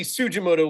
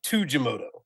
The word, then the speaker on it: Tsujimoto: should we do this I say toro sujimoto but the vast majority of people involved in the story say Taro Tu jimoto so I say sujimoto like tsunami yes uh and that that's